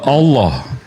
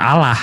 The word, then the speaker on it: Allah: preposition preposition bisa gu nah sama kayak Allah lnya double ditekan Allah bukan Allah kalau Allah lnya satu